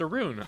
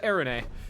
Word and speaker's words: Arun: It's pronounced Arun. All right. I thought it was Arune.